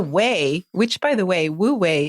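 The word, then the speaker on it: wu wei: which by the way Wu way is spelled w-u-w-e-i but it conveniently sounds like the word w-a-y way in English because it is about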